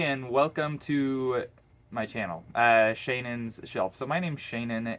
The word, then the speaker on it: Shannon: can probably tell that my name should not be pronounced Shannon. It should be Shawneen. It's like little Sean. My parents never called me that, so I never call myself that. Uh, Shannon, that's how it's pronounced.